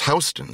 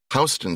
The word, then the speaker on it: Houston: of my colleagues is Hston Street in uh, southern Manhattan. Hston Street is spelled like the city Houston. They are not pronounced the same way.